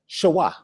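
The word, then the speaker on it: שְׁוָא: You hear I pronounced it? I said shawah. It gives the UH sound.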